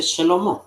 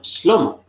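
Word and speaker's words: שלמה: Por ejemplo, eh, el nombre Salomón en hebreo se dice Shlomo. ¿No? No se dice Shlomo, como algunos pronuncian erróneamente, sino Shlomo.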